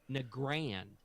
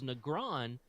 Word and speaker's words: Nagrand: when one of the Bliss cones called it Nagrand and I'm like well he created it therefore I must pronounce it the way he did because that's